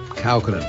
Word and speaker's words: Kaukonen: And Yorma, do you pronounce it Kaukonen or Kaukonen? Kaukonen.